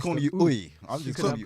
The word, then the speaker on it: Uyi: but like that's what since I've been in primary school, because the teacher couldn't pronounce my full name, she called me. Right. So it's actually pronounced Uyi, okay.